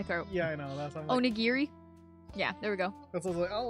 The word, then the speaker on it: onigiri: give her that one close enough did i pronounce it i had chocolate cake in my throat yeah i know that's onigiri yeah there we go i'll let that one